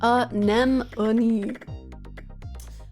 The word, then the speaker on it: anemone: Many an anonymous And please note that it's pronounced anemone.